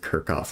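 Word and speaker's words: Kirchhoff: feel like I I had a pror who said Kirk off or something but I first learned it with kof and that's how I like learned to pronounce it like Captain Kirk kirkoff you've heard the first one Kirk off okay but you think it's Kirch off we just start I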